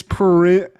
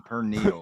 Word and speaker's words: Perineum: And it's Perineum. So however you pronounce that, perennium. Perineum. Okay, you said some perneal.